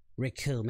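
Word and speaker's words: Recoome: Rikum, and it rhymes with Doom.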